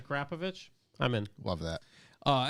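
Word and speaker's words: Akrapovič: friend oh Matt Wood acropro is pronounced acrop akropovic I think he's missing a covich acrapovic I'm in love that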